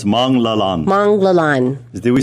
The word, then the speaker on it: Manglallan: Manglallan.